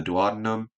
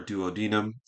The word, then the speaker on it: duodenum: it's mostly absorbed in the dadum OR duodenum however you like to pronounce that portion of the GI and